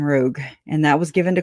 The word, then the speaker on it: Rogue: They call it a Rouge sometimes, and I'm like, because they misspell it. But it's a damn Rogue, and that was given to Colby.